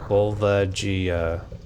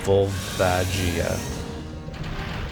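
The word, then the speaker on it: Volvagia: Okay, Google. How do we pronounce this? Vulvajia. Vulvajia. Yeah, pretty much. That's the That seems to be the internet consensus.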